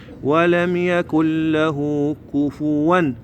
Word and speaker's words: كفوا: ننطقها ولم يكن له كفوا طبعا هاي الكلمه هوايه يخطؤون بها ما تقول كفوا احد لا تقول كفوا ك فوا كفوا لا تنسوها ركزوا عليها ان شاء الله احد ولم يكن له كفوا احد اعيدها كامله ان